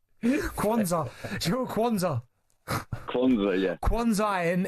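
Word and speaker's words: Quansah: For Gerard, go on, pronounce it properly. Kwanzaa.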